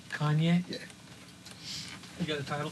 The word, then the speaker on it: Kanye: Kanye. Kanye?